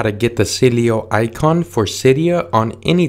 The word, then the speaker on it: Sileo: The next one we're going to search for is called Sileo, but it's spelled C-Y-L-E-O.